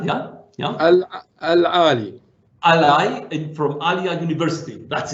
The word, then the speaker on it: Ahlia: Professor Mansoor, it is pronounced Ahlia, yeah? Aali.